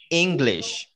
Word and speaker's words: English: inglés english un chip en esta palabra en inglés ambas ambas ambas sílabas es el mismo sonido vocal así este una y una y es el mismo sonido casi se fijan mi boca